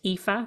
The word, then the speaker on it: Aoife: to spell my name it's spelled a o i f e and it's pronounced epha and my surname is